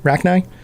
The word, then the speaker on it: Rachni: Is that the proper pronunciation? Rachni? Rachni.